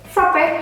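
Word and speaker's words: frappé: Frappe, how you say frappe? Frappe. Without accent? No accent. Oke, frappe, bacanya frappe. Ada double P di dalamnya, ada dua huruf P, frappe, jadi frappe. Seperti itu, bukan frappe, bukan ya.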